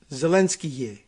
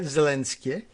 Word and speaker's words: Zelensky: Anyway, I'm wondering whether Zelensky is supposed to have another syllable to it. Zelensky, like that, Zelensky, and there's, I don't know how to say it any better, but I would ask him, but he's busy too.